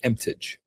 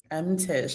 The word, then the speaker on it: Emtage: In Canada, yes, because of the French. That's how it typically is pronounced. But in Barbados, Emtage. Emtage.